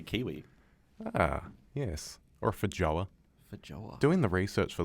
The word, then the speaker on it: feijoa: It's And a also, are you green- pronouncing that correctly? Yeah, feijoa.